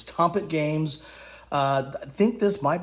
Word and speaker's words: Tompet: I think I might have mispronounced that in my unboxing, but it's Tompet Games.